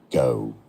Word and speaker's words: Geaux: Cajun French, pronounced as go. In French, it should be pronounced as jo. But no, go.